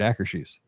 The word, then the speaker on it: Akershus: they were going to Castle Akershus, and he pronounced it Akershus.